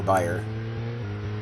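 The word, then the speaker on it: bier: Which I assume that's the way it's pronounced. I've always assumed, but Now that I'm looking at it, please don't look it up. I think I'd be annoyed if it were Bayer. Almost certain it's beer.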